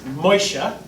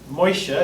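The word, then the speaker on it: Moshe: named him Moses or in Hebrew it's moisture moisture is how you say it in Hebrew and the word moisture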